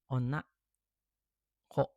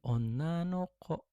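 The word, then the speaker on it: 女の子: kunyominya nggak ada okurigana, jadi harusnya bisa disebutnya onna ko gitu kan. Dan ada memang betul. Cuman karena kalau onna ko itu nggak enak didengar atau nggak lazim, dia dibacanya tambahin partikel no. Jadi onna no ko.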